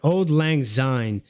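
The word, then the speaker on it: Auld Lang Syne: was that way oh so that's how you pronounce Old Lang Zine um yeah it almost it like in Dutch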